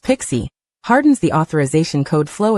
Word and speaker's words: PKCE: PKCE, pronounced Pixie, hardens the authorization code flow against interception attacks.